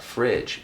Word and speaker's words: Phryg: youtube facebook and bandcamp once again that's the fridge p-h-r-y-g thanks for coming peace